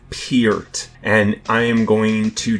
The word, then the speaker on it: Peart: It's Peart, and I am going to direct people to